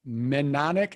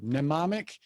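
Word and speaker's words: mnemonic: something called menic and I can't even say the word nomic devices I'm gonna spell it for you and you can just Google it if you if you would were to spell this it's m NE m o n i c and it the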